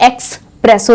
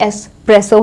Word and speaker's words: espresso: देखो एस्प्रेसो ये कॉफ़ी नहीं है और ये एक्सप्रेसो नहीं है, ये एस्प्रेसो है.